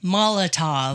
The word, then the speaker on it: Molotov: Molotov.